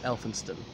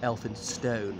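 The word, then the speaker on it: Elphinstone: at school with me the current lord elfinstein or elfin stone as some people pronounce it elf as he was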